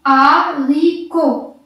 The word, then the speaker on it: haricots: T-S muet. H muet. Donc, je lis haricots.